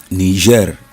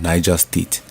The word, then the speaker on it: Niger: state in Nigeria Niger there's there are three different confusions normally ner is different from Niger state nigas is the same spelling but different pronunciation there's ner which is Niger Republic then uh we have Niger State in Nigeria is in the center of Nigeria Niger State then we also have